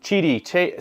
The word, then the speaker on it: Qidi: So we've got the Qidi Tech, or Qidi Tech, I think is how you say it, like Qidi, C-H-I-D-I, I think is how it's pronounced.